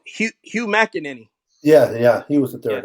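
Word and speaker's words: Hugh McElhenny: Hickenary. I'm not saying it right. Oh, Hugh McEnany.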